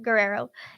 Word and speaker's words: Guerrero: named Richard G Guerrero Guerrero there you go Guerrero outside a gay bar called Phoenix interesting gay